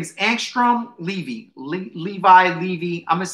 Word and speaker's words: Levy: Levy. I'm going to say, I always pronounce it Levy, but Levi makes more sense now.